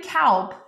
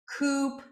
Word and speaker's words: Kaupe: But as Kaupe, boy, have I heard it all. I've gotten Kaupe, Coop. I got cow poop once. That was special. That was a first.